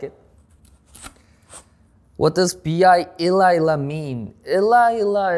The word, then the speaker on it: B.I: How old is BI? My international age is 24. How to pronounce BI? Yeah, well, B is like this B, and I is like this. This is my eyes. Yeah, B, I.